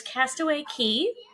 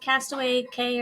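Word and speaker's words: Castaway Cay: and it's also called castaway K or Castaway key that's funny what was weird is they're they're both spelled the same but one says Castaway K and the other one says it's Castaway Key how can we almost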